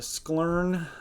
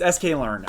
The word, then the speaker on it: sklearn: Min-max normalization with sklern. I don't even know how to pronounce that.